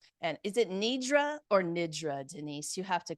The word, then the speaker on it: nidra: And is it Nidra or Nidra? Denise, you have to correct my pronunciation there. Well, if I was a true Indian, I would say Nidra.